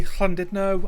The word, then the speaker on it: Llandudno: We've heard Llandudno in chat, or I should say Llandudno.